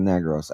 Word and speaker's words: Negros: First off, it's not pronounced as negro. It's pronounced as negros.